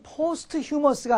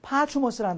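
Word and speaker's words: posthumous: 예.이 이 발음이 포스트머스가 아니고 파추머스라는 단어인데요.이 포스트라는 말은 뒤를 나타낼 때 쓰이는 말이에요.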